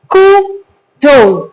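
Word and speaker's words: kudos: कूडोज, इसके अंदर दो सिलेबल्स हैं, राइट. सो इसको हम दो सिलेबल्स में डिवाइड करते हैं और इसको प्रोनाउंस करते हैं कूडोज.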